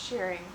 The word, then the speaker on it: shirring: It's shearing. I think my issue is I watch a lot of sewing YouTube videos and people pronounce it differently, even though the correct pronunciation is shear, as in shearing a sheep, even though it's spelled differently.